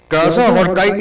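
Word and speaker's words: Krasznahorkai: Kaza Horkai is not written like that, but it's pronounced like Kaza Horkai.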